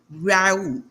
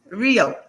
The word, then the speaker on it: Rio: And today's guest is Rue. Did I pronounce that correctly, your last name? Rio. Rio.